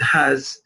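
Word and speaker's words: ح: Look how the epiglottis move backwards for the ha. It is not as strong as for the ayn.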